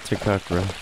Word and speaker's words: Takakura: Look at Takakura.